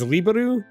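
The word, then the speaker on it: Liberl: And so in Japanese, it's liberu. The issue I have with pronouncing it in English is because it sounds like another word.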